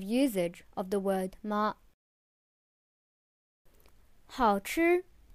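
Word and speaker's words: 好吃: 好吃, the third and first tone, means delicious or yummy.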